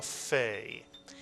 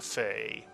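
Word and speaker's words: פ: we moove the dog it still is a pay but it's pronounced as an f and so we tend to call it a fay it's a pay that makes an F sound so we call it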